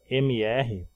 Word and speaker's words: Mr.: Sigla MR, a gente pronuncia Mr., né, como vocês viram, e a gente escreve MR.